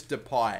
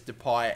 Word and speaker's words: Depay: actually going to be I am going to pronounce it as depay and not depay because I know the argument is there whether it's depay or deie but I've gone over